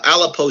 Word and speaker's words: Aleppo: antire family um came from uh alapo Syria or Aleppo Syria I believe is the correct pronunciation uh right after World